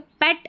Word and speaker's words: पेट: पेट animal होता है ना पालतू जानवर वो पेट नहीं बोलना। पेट बोल दे गलत हो जाएगा। अब इसमें देखें ये पेट करके हिंदी में लिखा है। लेकिन उच्चारण पैट है इसका।